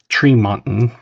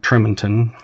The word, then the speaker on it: Tremonton: Yeah, and it's Tremonton, not Tremonton.